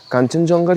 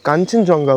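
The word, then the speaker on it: Khangchendzonga: হিলসের page follow করো ওখানে নিশ্চয়ই শুনেছো যে কাঞ্চনজঙ্গার কিন্তু মানে আসল নাম কাঞ্চনজঙ্গা নয় কারণ আমাদের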